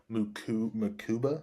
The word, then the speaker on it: Mukuba: Let's take Andrew Mukuba. I think is how you say his Makuba, name from Texas.